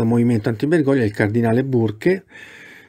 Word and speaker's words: Burke: anti menconi del cardinale burke e lo dico come scritto sembra che si pronunci bark questo cardinale burk marc